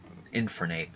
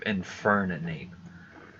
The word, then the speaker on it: Infernape: pronounce the end like I think I used to call Infernape just infer Nate instead of inferna Nate so I don't know